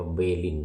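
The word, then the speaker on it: Berlin: ประเทศ เยอรมนี คือ เมือง เบอร์ลิน แต่ มา ที่ นี่ ได้ ยิน ประกาศ บน รถ ไฟ ว่า เบลิน นะ เบลิน เบลิน เนี่ย นะ ก็ จะ ออก เสียง เป็น เบลิน ภาษา เยอรมัน นี่ ก็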